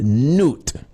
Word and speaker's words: Nut: some people call goddess known as Newt if you were to type Newt it's spelled like not n UT not lute you might have to